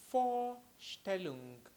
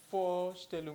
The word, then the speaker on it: Vorstellen: the pronunciation with me for still well it's quite easy like the number for which you already know in English and then still look for standard so let's try the